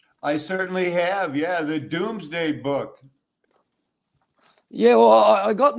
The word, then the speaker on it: Domesday: domes day but it was it's always been pronounced doomsday i was just looking at it earlier and